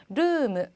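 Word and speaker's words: ルーム: 룸도 길게 발음해 주시고 뒤에 무라고 발음해 주셔야 돼요. 르무.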